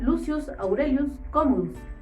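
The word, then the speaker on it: Lucius Aurelius Commodus: lució aurelio como 2 quien en latín se pronuncia lucius aurelius con woods el nombre con el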